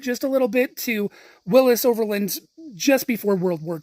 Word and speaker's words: Willys: a little bit to Willis Overland's just before World War II. And that's important because those that tend to pronounce the name of the company Willies start to become right.